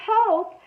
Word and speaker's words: hope: For the word hope, there's our sneaky E jumping over the P, making the O say its name.